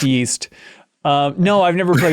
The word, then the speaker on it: Ys: play any of those yees games or east know they're pronounced it's pronounced yeast um no I've never